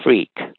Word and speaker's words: Freke: There's this guy, Timothy Freak, who, and that last name is spelled Freke.